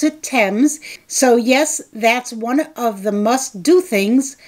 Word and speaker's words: Thames: Yes, the British pronounce it Thames.